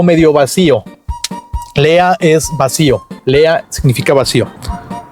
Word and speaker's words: leer: Lea. Se escribe leer, pero se dice lea.